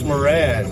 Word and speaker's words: Moran: We know him, and I'll give this the American pronunciation, as Lieutenant Colonel Nicholas Moran.